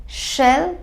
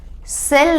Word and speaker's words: shall: शैल बी। कौन सा श? ये वाला श। सेल नहीं करेंगे, ये वाला स हम नहीं यूज करेंगे शैल के प्रोनाउंसिएशन में। we will pronounce it as shall, we shall be।